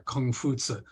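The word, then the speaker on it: 孔夫子: group were the confucians named after Confucius or Kung fusa in Chinese so confusions held that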